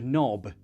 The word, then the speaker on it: knob: one of them and they gave us words like knife with a k or on the door a knob with a k knock um knock on my door with a k a lot of cool